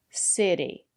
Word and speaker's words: city: Usually, when the letter T is between vowels, we pronounce the letter T as a fast D. Water, better, city. And the reason is because the syllable after the letter T is not stressed.